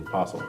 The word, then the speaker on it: apostle: So our Netflix pick of the week is The Apostle. Apostle. Apostle? Apostle. I'm saying apostle. Is it? I mean, there's a T in there. Apostle. That's right. The T is silent, as Jesus said.